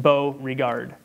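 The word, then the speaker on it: Beauregard: Mario burrow guard if you want to write this down at his last name is spelled B EA u re GA Rd just bow regard and he wrote in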